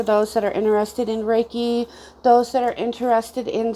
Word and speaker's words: Reiki: well what is reiki reiki is pronounced ray k rei ki sorry um it's a